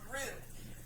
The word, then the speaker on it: roux: I know it's spelled kind of weird, but it's called roux.